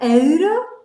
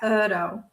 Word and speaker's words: euro: Euro, you said. Yeah, euro. Euro. It's mostly like euro.